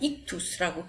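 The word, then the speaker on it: ἰχθύς: 지금 여기 나타나 있는 알파벳을 보면은 그 5가지 알파벳이 있는데 여기에 보면은 이 의미는 이 알파벳의 그 발음은 익투스라고 그리스어 익투스 물고기라는 의미가 됩니다.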